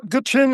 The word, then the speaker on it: Gwich'in: I know there's the Inupiat and Gwich'in. Am I pronouncing that correctly? Yeah, Gwich'in is an Athabascan, Indian group, basically more interior